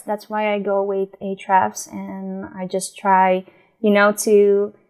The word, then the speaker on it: Ahrefs: Then I do a keyword research with Ahrefs, or I don't know how to pronounce that actually. Ahrefs. Ahrefs, yeah, perfect.